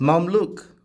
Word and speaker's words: Mamluk: reception hall 14th century did he say right look at this he said it right Mom Luke mom Luke found some more of